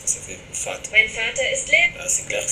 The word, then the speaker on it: Vater: Mein Vater ist Lehrer. Donc Vater, vous entendez d'ailleurs que le V est prononcé comme un F.